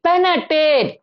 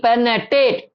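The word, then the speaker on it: penetrate: எஸ்டிஐசி அக்குஸ்டிக்ஏசிஓ எஸ்டி ஐசி பெனடேட் பி எஆர் பெனர்டி பெனடேட் அத ஆர் வந்து சைலன்ட்டா உச்சரிக்கணுங்க பி எஆர்டி அக்குஸ்டிக்ஏசி எஸ்டிஐசி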